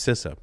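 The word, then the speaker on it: CISA: local sister representative that told me is pronounced sisa and again we could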